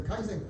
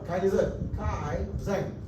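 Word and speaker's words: Kaizen: do that is a kaen kaen Ken no k k Zen that's Japanese pronunciation K Zen K Kai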